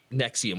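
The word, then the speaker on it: NXIVM: he had all these like independent projects inside nexium was that was what it was called but it was spelled like the douchiest way possible in Ex like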